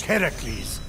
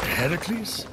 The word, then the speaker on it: Heracles: So, Fenyx, after boldly besting the Gorgon that ambushed Heracles... What are you doing there? That thing with your voice? Heracles?